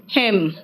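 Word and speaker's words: hymn: क्या कहा सोलम ऑटम हेम मंत्र को हेम कहते हैं महिमन नहीं कहते कॉलम एंड साइलेंट है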